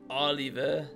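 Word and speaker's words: Olivier: Worst character, remember his name is pronounced the French way Oliver.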